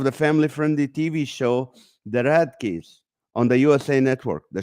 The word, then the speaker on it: Radke: Is it Radke?